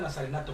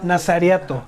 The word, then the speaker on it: nazariato: o de no se pronuncia nazarenato, pero bueno... Nazariato, es nazariato.